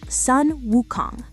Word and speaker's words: Sun Wukong: The Chinese name for the Monkey King is Sun Wukong. The Japanese reading, the Japanese pronunciation of those exact same three kanji characters is Son Goku.